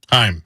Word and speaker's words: Heim: Heim.